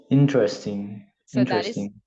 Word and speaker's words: interesting: cinema sounds great so pronunciation interesting imagine that the letter e is not there is interesting that's the one excellent okay